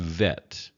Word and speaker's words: vet: When the B vacates the letter, then there's a V sound, a V sound. So again, bet and vet, bet and vet.